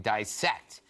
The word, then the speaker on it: dissect: There's no long I in dissect. The word is correctly pronounced with a short I. The pronunciation should not be confused with that of bisect, which does indeed have the long I.